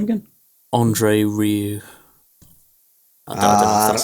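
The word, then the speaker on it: André Rieu: Andre Rieu. I don't know if that's how you pronounce it. R-I-E-U. Andre Rieu.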